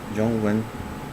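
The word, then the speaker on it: zhōngwén: will be taught in the next lesson so jung wen spelled z h o n g w m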